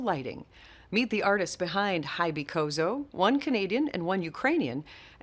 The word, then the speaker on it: Hybycozo: So I guess I was pronouncing it wrong. It's Hybycozo, not Hybycozo. We made up a word.